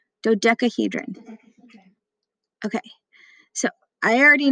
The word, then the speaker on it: Dodecahedron: This is how it's pronounced. Dodecahedron. Dodecahedron.